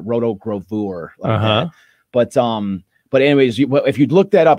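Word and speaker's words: rotogravure: so roto roto grav you could say pronounce it roto grover but um but anyways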